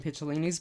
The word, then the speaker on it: Picciolini: I would also encourage people to read or listen to Christian Picciolini's book. It's Piccolini. I had been saying it wrong for quite some time, but it's Picciolini.